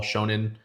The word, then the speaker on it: shonen: So One Piece is a shonen anime or shonen anime, which is for young teenagers. You're supposed to like, it's like a coming of age story almost. That's what all shonen animes are kind of.